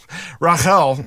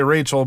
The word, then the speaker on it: Rachel: come from padan ra Rael I I've got a cousin named Rachel and I just want to say Rachel but the you know the pronunciation is Rael Rael died suddenly as